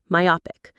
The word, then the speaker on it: myopic: Myopic. Say it again with me. My opic stress on that middle syllable.